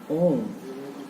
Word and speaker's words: ohm: ठीक है, लेकिन पढ़ते हैं इसको ओम, ओम नहीं, एच साइलेंट है यहाँ पे, है ना, इसको ओमेगा बेसिकली कहा जाता है।